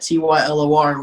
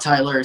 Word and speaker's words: Tylor: said tylor on it t ylor which is how my name is spelled so my name is tylor not tyler so tyler or tylor